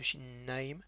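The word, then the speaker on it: שיניים: Donc j'appuie bien sur le n de shinnaim parce que il y a ce point là qui se trouve à l'intérieur de la lettre, il accentue la force de la lettre. D'accord, on appelle ça le dagesh, et là c'est un dagesh hazak. Ça veut dire que c'est comme si on doublait la lettre, shinnaim.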